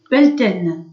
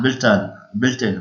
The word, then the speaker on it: Beltane: Et Belten, le 1er mai. Non, Beltane. Ah, bah, désolé, je prononce mal, hein.